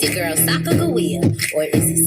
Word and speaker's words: Sacagawea: It's your girl Sacagawea, or is it Sacagawea? Either way, we gon' pronounce it with a hard G.